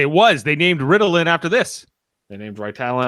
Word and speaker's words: Ritalin: This story's MacGuffin is a plaque medicine called Ritalin, accent on the second syllable. In real life, Ritalin, accent on the first syllable, is a commercial name for the psychiatric